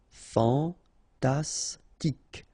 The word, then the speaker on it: fantastique: Okay, Q-U-E at the end. K. Okay, tic. Fantastique.